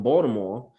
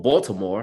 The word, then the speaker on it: Baltimore: there was a story in baltimore or baltimore because that's the right way to say it that a young man